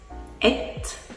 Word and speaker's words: et: Parce qu'en fait, ils font soit la viande de mouton, et ils appellent ça viande, soit la viande de poulet. Et du coup, vous dites et, ça s'écrit E-T, et ça se prononce et, qui est la viande, si vous voulez un durum de mouton.